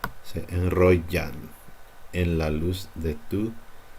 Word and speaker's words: enrollan: Just make it like a slightly harder Y, perhaps. Se enrollan en la luz de tu cintura.